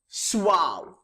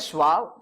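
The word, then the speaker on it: suave: पहला वर्ड है सुआव. This is pronounced as सुआव. Some people call it एज सुआवे. इट्स not like that यार.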